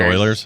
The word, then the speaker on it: Euler's: Oh, it's pronounced Oilers?